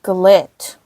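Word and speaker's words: GLLIT: It's pronounced Glit. That sounds like Glit.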